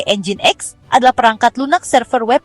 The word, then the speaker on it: Nginx: Nyin X yang diucapkan sebagai Engine X adalah perangkat lunak server